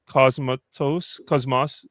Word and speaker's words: Cosmatos: Cosmatos.